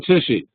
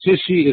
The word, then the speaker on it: Tichy: How old is Jan Tichy?